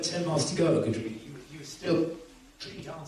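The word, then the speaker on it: Godrevy: Mark, I was stood on the steps at Keith, how do you pronounce it? Godreevy.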